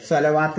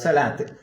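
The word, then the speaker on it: صلاة: അപ്പോഴാണ് നമ്മൾ സ്വലാത്ത്, സകാത്ത് ഒക്കെ എങ്ങനെ ഓതുക? സ്വലാത്ത് ഇങ്ങനെ ഉണ്ടാവുക, സ്വലവാത്ത് എന്നാ ഉണ്ടാവുക. പക്ഷെ നമ്മൾ ഉച്ചരിക്കേണ്ടത് സ്വലാത്ത്.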